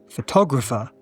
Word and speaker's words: photographer: The person is a photographer. The stress changes and also the schwas. Photographer. 3 schwas. Photographer. Photographer.